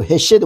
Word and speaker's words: 헤세드: 대해서 살펴보겠습니다 히브 는요 헤세드 우리가 히세 하면 은혜라고 이렇게 알고 있는데요 히브리 헤세드는 헤세로 발음되는이 단어는 시편에서 어 흔히 인자